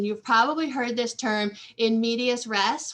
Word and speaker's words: in medias res: probably heard this term in medias res, which is really hard for me to pronounce because I want to always say in media res, but there is an S there.